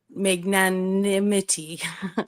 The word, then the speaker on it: magnanimity: Well, and if I might add that um you know, I've I've talked about it before, magnanim magnanimity. I always add an extra syllable in syllable in there, but it's to be